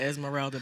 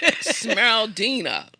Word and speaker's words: Smeraldina: okay, so I thought it said Esmeralda, but the S on the front, so that ain't it. Smeraldina.